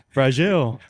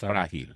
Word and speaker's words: frágil: Fragile. Fragile. We'll get that one, but Did I say it right? No. it's frágil.